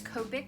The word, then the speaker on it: Copic: a Japanese brand, and they don't really do the sound ka unless it's like K-A, and it's spelled C-O. So whether it was C-O or K-O, it's gonna be ko.